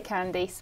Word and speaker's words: Candice: either way I mean I say candies but you know some people say Candice because I think like Candice Bergen I know that has